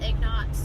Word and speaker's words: ingots: With flatbedding you're getting out there, you're chaining up, and I carry everything from, like right now we're carrying lumber to metal ingots.